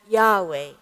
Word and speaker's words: Yahweh: and now, using the same consonants, we call it Yahweh.